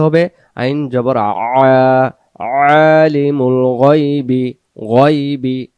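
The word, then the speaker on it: الغيب: আইন জবর আলিমুল গায়বি, গায়বি গাইবি উচ্চারণ হবে না, মতে মোটা। গইন জবর গ উচ্চারণ হবে, গা হবে না।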